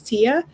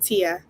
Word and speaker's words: Teaya: And what I wanted to tell you is you're saying my name right. It's Teaya. It's just spelled differently because my mom's just, she wanted to be different, I guess. But I just wanted to tell you that. You're saying it right. It's Teaya. Well, actually, it's Teaya, not Tia. Teaya.